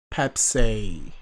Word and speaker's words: 뱁새: Like, you say it as though you're saying Pepsi, but then you kind of like twist it a little bit to make it BAEPSAE, right?